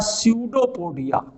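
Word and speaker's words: pseudopodia: में इनको कहते हैं, पी साइलेंट होता है, स्यूडोपोडिया, इनके द्वारा गमन करते हैं।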